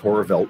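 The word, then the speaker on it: Horrorwelt: o r r o r w LT it's pronounced horror velt but that's but you can find us on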